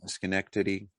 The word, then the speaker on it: Schenectady: Yeah, Schenectady.